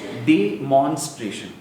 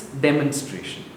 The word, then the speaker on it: demonstration: The way you're pronouncing it is demonstration. So the emphasis is on mon. It's demonstration.